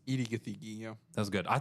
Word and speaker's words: Gathegi: It's Edie Gathegi.